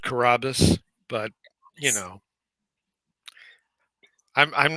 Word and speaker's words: Carrabis: the land itself um I pronounce it Carrabba's but you know I'm